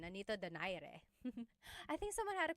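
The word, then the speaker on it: Nonito Donaire: So, our first poll here is going to be Mani Pacquiao versus Nonito Daire or is in in the Tagalog uh pronunciation. Nonito Dere.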